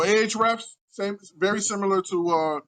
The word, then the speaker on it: Ahrefs: age refs is that is that people call it ahrefs yep all right ahrefs so ah reps same very similar to